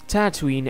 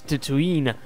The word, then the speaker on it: Tatooine: Tatooine and yes ba Tatooine and Tatooine are correct ways of pronouncing the name of this planet the shortness of my